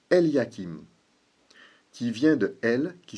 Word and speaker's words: Eliakim: Le nom de celui qui reçoit cette clé, dans le livre d'Ésaïe, se prononce Eliakim, qui vient de El, qui signifie Dieu, et